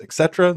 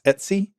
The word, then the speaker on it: etc: are stored there's Etc which some people pronounce Etc some people pronounce Etsy that's where your configuration